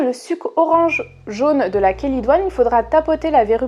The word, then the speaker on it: chélidoine: Quand on parle des verrues, il y a une plante qui revient toujours, c'est la chélidoine ou chélidoine, enfin ça s'écrit chélidoine mais ça se dit chélidoine.